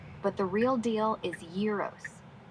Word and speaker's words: gyros: In Greek, it's pronounced y e e r o like year but shorter with a rolled R and stress on the first syllable. Americans often say j y e r o but the real deal is yearos.